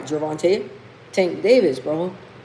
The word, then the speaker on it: Gervonta: Javvante Tank Davis, bro.